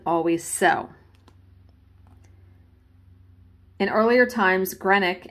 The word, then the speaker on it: Greenock: so in earlier times granick and I think I'm pronouncing that correctly it's g-r-e-e-n-o-c-k it looks like Greenock but it's probably granite whoever I'm sure somebody will correct me in the comments I'm gonna say granite so in earlier times